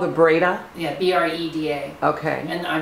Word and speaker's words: Breda: okay last week in May it's called the Breda yeah b-r-e-d-a okay and I think I'm pronouncing that correctly and then after that I'm